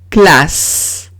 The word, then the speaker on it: classe: Ejemplo, classe. Classe. En classe tengo que doblar la S porque si pongo una sola S sería classe.